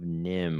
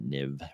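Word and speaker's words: NIMH: And apparently it was pronounced Nim, even though as an adult I would want to pronounce that Niv or Neve.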